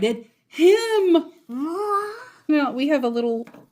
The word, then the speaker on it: moi: Moi. Now, we have a little donut down here. What does that say? Moi, pronounced as moi, is a French word for me.